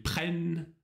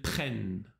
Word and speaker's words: prennent: Тут тоже замечай, что последняя форма – это открытый звук «э». Ils prennent. Elles prennent.